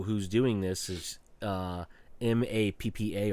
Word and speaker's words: MAPPA: doing this is uh m-a-p-p-a or mop mappa I think people pronounce it but it's actually just an acronym but um it is